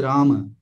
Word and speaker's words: राम: हम उच्चारण करते हैं, जैसे देखिए हिंदी में उच्चारण करेंगे तो राम बोलेंगे, संस्कृत का जो उच्चारण है उसमें माँ का पूरा उच्चारण होता है, ये एक श्वा डिलीशन होता है, लिंग्विस्टिक्स का टर्म है, जिसमें अंतिम अकार हम डिलीट कर देते हैं, है ना। तो ये जो उच्चारण है होना तो चाहिए राम।